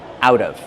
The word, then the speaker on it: out of: Out of pronunciation out of the T changes to a fast D out of.